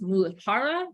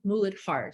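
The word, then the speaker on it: मूलाधार: So Muladhara chakra, it can be pronounced Muladhara, Muladhara. So if you've heard it in both ways, they're not tomato. So, potato, so it's just depends on if it's a Northern Indian dialect or the Southern.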